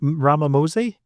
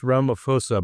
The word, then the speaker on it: Ramaphosa: Was it Ramamosi? I think it's Ramaphosa, but I'm sure I'm mispronouncing it. Ramaphosa.